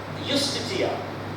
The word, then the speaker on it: justitia: And the legal maxim is fiat justitia. J is pronounced as ya. Justitia.